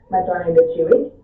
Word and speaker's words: Matone de Chiwit: So that's actually where I founded my project, Matone de Chiwit. That's how you pronounce it.